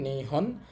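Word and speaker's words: 日本: বলতে জাপানকে বোঝানো হয় এটার এখানে উচ্চারণ হবে নিহন আর এটা মানুষের কাঞ্জি নিহন মানে জাপান আর এখানে মানুষের কাঞ্জির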